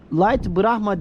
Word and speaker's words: Light Brahma: hemen bırakma bu hıh Lite bırakma bu Light Brahma diye okunur demiş yani Şunların ikisi Light Brahma cinsi tavuk varmış Bunlar